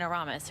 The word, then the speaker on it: Aramis: name correctly can you please say the correct pronunciation of your first name Aramis you got it right everybody saying Aramis right so Aramis so now we have we